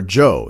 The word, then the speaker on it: Zhou: And so he eventually faces his end in the Battle of Mu Yi against King Wu of Zhou, or Zhou is actually the correct pronunciation, King Wu of Zhou.